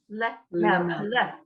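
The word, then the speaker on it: לְמֶלֶךְ: You just sort of get a sound that's not really there when it's at the beginning of a word. You have to say something. Otherwise, you can't pronounce the lamed.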